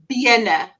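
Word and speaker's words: bene: say the word legs BNA be e n e so there's only one n because you want the first e to be B it's legs but if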